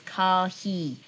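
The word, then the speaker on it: コーヒー: So, coffee, guess how to pronounce it? Yes, it's kahi.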